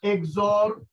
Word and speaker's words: XOR: x equal to a XOR b। সবাই দেখো, নাফিস দেখতে পাচ্ছ? জি স্যার। স্যার এটা প্লাস এডিশন and এটা sign যদি একটু সার্কেল দাও or sign, তাহলে এর উচ্চারণ হবে XOR।